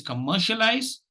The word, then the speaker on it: commercialize: like to say goodbye the word for today is commercialize obviously the long wall has attracted the uh the the stress to itself and that is in the second syllable please keep practicing please